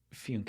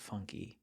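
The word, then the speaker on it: Fünke: One of the characters' names is Funke. It's spelled the same way, and he pronounces it Funke, and everybody in the show calls it funky.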